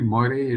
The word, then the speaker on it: moiré: look for Moiré patterns, actually Moiré is the way we pronounce it in English, I think the French who invented this form of silk, call it moiré or something like that.